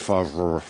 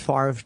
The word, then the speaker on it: Favre: That would be Brett Favre. Brett Favre. Brett Favre. How do you get far out of F-A-V-R-E? I don't know, man. Isn't it pronounced Favre, technically? R-V-E? Probably. Brett Favre, I think.